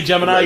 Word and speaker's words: Gemini: He couldn't say Gemini. He called it Jiminy.